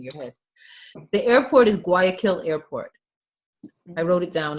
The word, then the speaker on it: Guayaquil: The airport is Guayaquil Airport. I wrote it down in the chat so you can see how it's spelled. Guayaquil, Guyaquil. Guayaquil Airport.